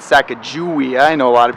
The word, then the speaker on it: Sacajawea: gonna go hike Sacajawea that's right I said sack of jewy I know a lot of people say it's a cago way uh there's other ways to say it but